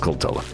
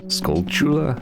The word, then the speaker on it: Skulltula: I always pronounce it Skulltula. But then somewhere along the line I had like a light bulb moment where like, as in Tarantula? Skulltula?